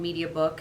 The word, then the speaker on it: MediaBuk: want to test one, we created a sister company called MediaBook, and book is spelled B-U-K, where you can buy a single unit and test it.